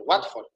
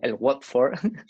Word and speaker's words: Watford: del mundo de fútbol el W for se pronuncia así no wat for que luego nos regañaba